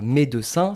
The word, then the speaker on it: médecin: d'un mot comme ça, entre deux consonnes. Médecin, c'est entre le D et le C. Donc deux consonnes. Voilà, on mange le E.